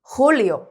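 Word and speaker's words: julio: 영어로 줄라이 했다면 그렇죠 스페인어로는 홀리 제 소리 아닙니다 이제 얘는 호다 거친 히읗 소리예요 홀리 7월입니다 그다음 길 거리 오케이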